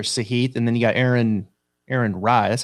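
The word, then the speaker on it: Aaron Rai: Sahith, and then you got Aaron Rye.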